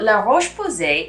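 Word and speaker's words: La Roche-Posay: for the brand l berry number two is la roche posie so la roche posay is a lesser known brand of some americans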